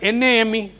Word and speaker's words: name: Forget about that NAME. It is name, not name. Gate.